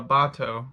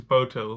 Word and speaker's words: boto: The Amazon river dolphin, also known as the pink river dolphin or the bato, or maybe it's pronounced boat, I think it's boto, lives only in fresh water.